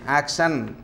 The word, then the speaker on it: action: Many people say action like that. Action. No. Action. So first syllable you have to give stress on the first syllable.